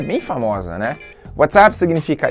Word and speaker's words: WhatsApp: Só que a pronúncia de app, né, parece ali um pouco com up, então WhatsApp. Então é um trocadilho, na